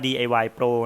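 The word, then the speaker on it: DIY Proo: นะ ครับ แล้ว ก็ DIY p r o o ที่ อ่าน ว่า DIY โปร นะ ครับ คัน นี้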